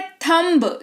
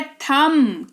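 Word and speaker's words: thumb: ठीक है, फिर है थंब। जी नहीं, ये है थम। क्यों? क्योंकि हमने यहां पर देखा है ये वाला रूल, जिसके जो ये कहता है कि किसी शब्द के आखिर में अगर बी है और उसके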